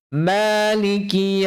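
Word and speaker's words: مَالِكِ: Perhatikan pengucapan huruf 'ma'. 'Ma' ini adalah 'mad thobi'i'. Panjangnya sudah cukup untuk dua harakat, tidak perlu dipanjangkan lagi. 'Maaliki yawmiddin'. Sebagian orang membacanya dengan panjang lebih dari dua harakat.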